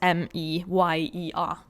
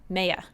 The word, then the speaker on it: Meyer: And then her last name is M-E-Y-E-R. Meyer.